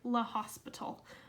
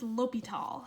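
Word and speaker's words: L'Hôpital: call it l'hopital's rule looks sort of like l'hospital but I think it's French and it's pronounced l'hopital so l'hopital's rule says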